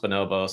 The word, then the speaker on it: Bonobos: heard of Bonobos or know that it's you know pronounced bonobos and it's not Bombas the sock company like all these different